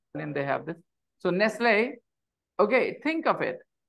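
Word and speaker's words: Nestlé: they have this so Nestle okay think of it if you have e at the end of a word in English that e doesn't have a sound f-i-n-e fine t t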